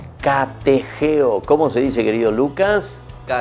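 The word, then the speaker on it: κατηχέω: Y esa palabra se dice catejeo.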